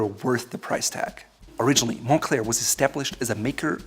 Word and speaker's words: Moncler: determine if they're worth your money or not Montclair is pronounced that way because it's derived from the